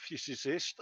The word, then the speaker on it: physicist: This bloke's a French physicist who was. I've got to have a word with my dentist.